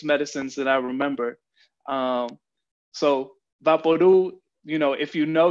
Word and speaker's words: VapoRub: out what vaporu is in english it is pronounced vaporub but its real name is vaporu it's vaporu so uh